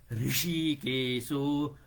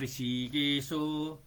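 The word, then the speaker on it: हृषीकेशो: पान्चजन्यम पाञचजन्यम पान्चजन्यम ऋषि केशो ऋषि केशो यो चाहिँ उच्चारणमा र ह र इ को मात्रा हो के हरे रि धेरै जसो यो भारतीयहरुले उच्चारण नेपालीहरुले चाहिँ उच्चारण गर्छन ट्वाक्क है भारतीहरुलाई यस्तो उच्चारण गर्न खास गरि गुजरातीहरुलाई त सारै गाहो हुन्छ पान्चजन्यम ऋषिकेशो ऋषिकेशो देवदत्तम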